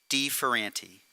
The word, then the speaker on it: de Ferranti: Deever aunty thank you and thank you for the pronunciation not everybody here may know exactly how to pronounce my last name so it's de fer auntie just so that you